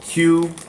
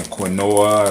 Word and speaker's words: quinoa: Is known as quinoa, spelled Quinoa, right? A lot of y'all might be saying quinoa or whatever, but it's pronounced quinoa, right?